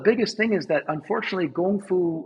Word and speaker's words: 功夫: And, the biggest thing is that unfortunately, Gong Fu or Kung Fu in Cantonese, how they pronounce it in English, everyone thinks it means martial arts, and it doesn't.